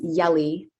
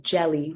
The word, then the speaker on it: YRDGZ: Um, it's everyone says yelli. Um, but it's actually jelly. Like peanut butter and jelly.